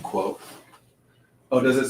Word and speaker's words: Quoth: But like just that, naming the character that, Quoth. pronounced quote.